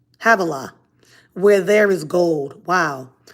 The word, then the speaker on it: Havilah: the pison pishon pichon i always get that name wrong pishon it winds through the entire land of havilla havilah where there is gold wow the gold of